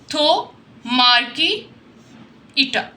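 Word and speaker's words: Thaumarchaeota: यह आपने प्रोनाउंसिएशन इसकी देख लेनी है। थो मार्की ईटा इसके आप सेलबल्स बनाकर इसको मेमोराइज कर सकते हैं।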